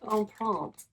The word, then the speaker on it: Empreinte: It's called Empreinte. It looks like Empreinte, but It's French and it's more like Empreinte, but I cannot speak the French.